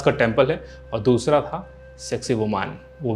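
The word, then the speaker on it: Sacsayhuamán: dedicated to Inca's god and another one was Seqsaywoman I know its a family channel..hehe but that's how you pronounce.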